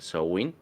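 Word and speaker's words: Samhain: in o Sao in Aunque pues se escribe Sam pero realmente so Win que significa en gaelico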